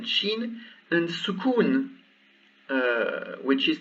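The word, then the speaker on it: شين: well or ship ship here you've seen it's sheen so what i pronounce is this ship ship twice the same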